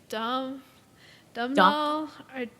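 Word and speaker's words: Domhnall: people how to say it correctly it's like Dum dumb doll d I don't know hey man people need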